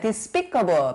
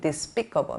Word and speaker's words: despicable: 이 단어는요, despicable, 발음을 이렇게 해요. 강세 주의해 주셔야 돼요. despicable, 멸시받을 만한, 아주 굉장히 안 좋은이라는 거죠.